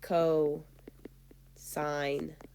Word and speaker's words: cos: this adjacent over hypotenuse its notation is just cos so costs but you say it like Co sine of Theta foreign last